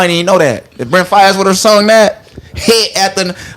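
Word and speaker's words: Brent Faiyaz: Brent Fayez.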